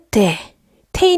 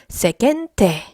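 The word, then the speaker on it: 世間体: 자 , 이건 " 세켄 테이 " 라고 발음 하는데 , 긴 모음 이에요 , 여러분 . " 세켄 테이 " 는 사회 적 체면 을 뜻 하는 단어 입니다 .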